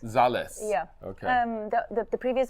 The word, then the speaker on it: Zalles: before I proceed um z-a-l-l-e-s how do you pronounce that it's Zales Zales yeah okay um the previous owner was Reynolda